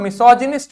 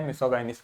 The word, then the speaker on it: misogynist: था, उस चक्कर में मैंने मिसोगाइनिस्ट बोल दिया। नहीं, इसको बोलेंगे मिसोजिनिस्ट। क्या बोलेंगे बच्चों? मिसोजिनिस्ट। क्या बोलेंगे? मेरे साथ में बोलो, मिसोजिनिस्ट। क्या बोलेंगे? मिसोजिनिस्ट। क्या बोलेंगे? मिसोजिनिस्ट।